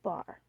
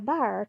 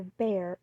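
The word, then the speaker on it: Bhaer: at its horrid name it isn't pronounced either bear or beer as people will say it but something between the two is only Germans can give it I'm glad you both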